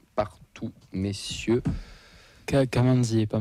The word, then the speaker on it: Kamanzi: Kamanzi et pas Mackenzie.